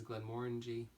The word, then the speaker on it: Glenmorangie: course because this is Glenmorangie rhymes with orange e onto Oh what